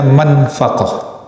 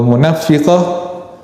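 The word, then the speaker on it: منفقة: sekolah ini Fathul Bari beliau lebih menyarankan bacanya manfaqah jadi al-haliful manfaqotun bissilla Walaupun ada juga bacaannya ini atau munafiah itu sumpah itu disebut sumpah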